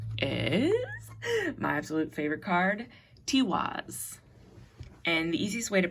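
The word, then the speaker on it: Tiwaz: And our last card, guys, is my absolute favorite card, Tiwas. And the easiest way to pronounce this one is if you break it up into T, like T-E-A, T, which is my favorite thing of all times, and then was, T-was, okay?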